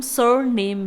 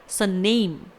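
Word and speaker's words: surname: जी हाँ, last नेम को हम सर नेम भी बुलाते हैं। इस वर्ड को 2 तरीके से प्रोनाउंस किया जा सकता है। नंबर 1 सरनेम, यहाँ पर मैं आर को उच्चारित नहीं कर रही हूँ, ठीक है।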